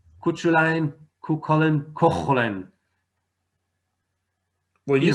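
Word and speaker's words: Cúchulainn: It's Kukollen.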